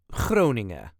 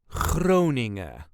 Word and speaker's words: Groningen: This is the way us Dutchies say Groningen. Groningen. There is a very slight emphasis on the first syllable. Groningen.